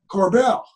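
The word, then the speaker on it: Korbel: early age your father joseph corbil is that how you pronounce that corbell okay so joseph corbell was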